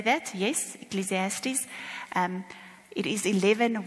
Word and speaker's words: Ecclesiastes: Yes, Ecclesiastes. It is 11, 1 and 2. Let's just quickly read that. It's in the context of sowing, which is interesting. Because it says in Ecclesiastes 11, cast your bread upon the waters, for